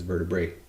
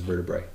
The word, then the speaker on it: vertebrae: formula vertebra formulai vertebrae although we often pronounce that as vertebrate but the technical latin pronunciation is vertebrae anyway you won't be